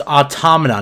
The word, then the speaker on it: Automata: And for God's sakes, it's pronounced automata, not automata, not automata.